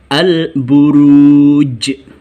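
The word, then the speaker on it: البروج: tajwid Qalqalah kubro Hai dan membacanya dibaca dengan memantul memantul nya terasa karena Kubro besar al-buruj j-shaper seolah-olah berbunyi seperti itu al-buruj Hai contoh yang kedua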